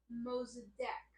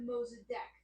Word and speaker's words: Mossadegh: from democracy now and Amy Goodman says that his name is Muhammad mozadek that's how she pronounced it I know it is spelled uh m o s s a d e g h and not d-e-q so some people might